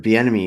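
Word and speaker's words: Bieniemy: not be a good fit but i think beanie emmy needs to get hired by somebody i agree but if you're the enemy you're sorry i that's how you say his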